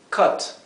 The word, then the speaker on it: cut: letra u la letra u puede tener dos pronunciaciones diferentes u o e verdad en este caso es la segunda es Cut Cut verdad Mientras que la palabra cute que